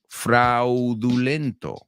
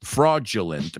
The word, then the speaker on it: fraudulent: Fraudulento. No voy a decir. We do say in English fraudulent, pero la D, fíjate cómo se pronuncia. No es fraudulent, it's fraudulent.